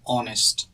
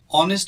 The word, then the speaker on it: honest: to the word honest honest is pronounced with an o in the beginning and since o is a vowel sound we use the word and not o we don't say my mother is a honest man or all honest man